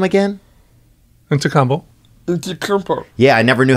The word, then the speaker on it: Antetokounmpo: Antetokounmpo. Yeah, I never knew how to pronounce it.